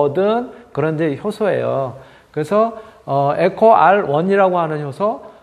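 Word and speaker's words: EcoRI: 할까 하는 얘기는 뭐냐면 여기에 제가 이제 그 일대의 코 ri 라고 읽었는데 저게 i 로 쓰여져 있긴 하지만 저게 어 그러니까 그리스 문자의 요인이 까 아이가 아니라 사실은 일이라는 거에요 일요일 가 빼내서 이렇게 숭 거죠 그래서 에코 r1 인거죠 원 제가 지난번에 ri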